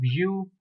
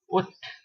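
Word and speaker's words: août: accent on top of U. You may pronounce it as U or Ut.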